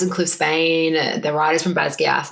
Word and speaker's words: Basgiath: But Basgiath is the correct pronunciation. Because I will die on the Basgiath hill, though, in my mind.